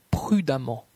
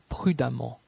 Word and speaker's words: prudemment: La lettre E dans la combinaison de lettres EMM se prononce comme un A. Femme, femme. Évidemment, évidemment. Prudemment, prudemment.